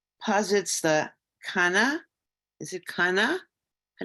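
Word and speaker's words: קנאה: Is it Kana? How do you pronounce it? Kana? Kan'ah. Kana. Kan'ah. Say it again. Say it again. Kan'ah. Emphasis on the second syllable.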